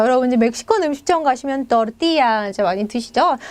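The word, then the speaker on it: tortilla: 그음 또띠야 또띠야음 자 여러분 멕시코 음식장 가시면 또띠야 이제 많이 드시죠 저 이제 스페인 스타일 또르띠아 또 다릅니다 자 먹어보지 않으신 분들인지 뭔지 한번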